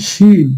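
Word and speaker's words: شين: এই শিওর বললে এই যে শিনের উচ্চারণটা কিন্তু হয়ে যায়।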